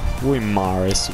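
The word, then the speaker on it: Guimarães: confondo sempre qui CDC Bruno guimaraes Vabbè si pronuncia la s 79 non malissimo però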